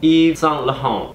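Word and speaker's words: Yves: you certain okay whatever it is pronounced Eve I don't know uh if you're basic like me you say Eve St Lauren and this is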